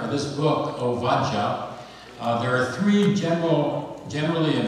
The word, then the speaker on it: Ovadiah: the Bible, you know it as Obadiah, right? Correctly pronounced Ovadiah. Ovadiah is a composite word. The first part of Ovad is the same as Eved, meaning servant, and Yah stands for Yahweh, one of the ways to pronounce the Tetragrammaton.